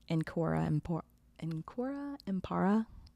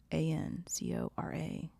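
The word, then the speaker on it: Ancora imparo: Well, I love Encora Impara. I am always learning. Did I pronounce it correctly? Encora Impara? Encora Impara. Ancora Impora.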